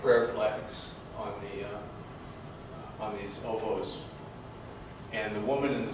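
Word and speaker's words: ovoo: places, hills and whatnot, cairns, which are called ovos. Every word in Mongolia is spelled in English seems to be spelled a half a dozen different ways. But ovo is spelled O-B-O, O-V-O-O, O-V-O. It's all the same thing.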